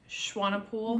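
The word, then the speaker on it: Swanepoel: Paul how do you say your last name Schwan pool what were those those were not wings that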